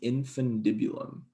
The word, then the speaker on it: infundibulum: hypothalamus via a little funny word called the infundibulum that's how you pronounce that and then interfaces with the nervous